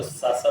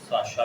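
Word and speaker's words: शश: तो इसको सासा बोलते हैं, उसको साशा भी बोलते हैं।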